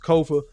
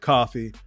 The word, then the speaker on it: Kofa: I have been your humble host, Kofa, K-O-F-A, not coffee, not Khufu, not Kofi, or any variation thereof. Kofa rhymes with sofa.